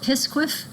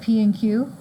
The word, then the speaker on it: PSQF: prerequisite of of uh I call it pqu that's how I pronounce this other people call it P and Q but it's a pronounceable acronym pqu 4143 now that